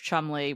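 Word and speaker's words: Cholmondeley: Rose hanberry the martianus of Chumley which is spelled with 15 extra letters yeah and I will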